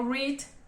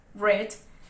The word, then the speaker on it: read: Ahora, tenemos el verbo como read, read, que en este caso es un verbo irregular porque cambia su forma de pronunciar.